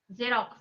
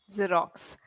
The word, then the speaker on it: Xerox: for example, the word, this one, Xerox, Xerox, right? yeah, What is the sound of X? X, Any zo, idea? A Z sound is actually Z zo, or Z, right?